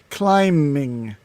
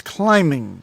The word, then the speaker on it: climbing: the b is silent climbing timeless the b the b is a miter european european to understand that uh joke no no no no c-l-i-m-b we don't pronounce the b so it's climbing not climbing really yes